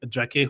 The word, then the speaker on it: Jacquet: I'm saying all of this in the French u the correct French pronunciation. I mean you can say Ren if you want. You can say Jaket if you want. It's Jeremy Jak and Renee until June 2029.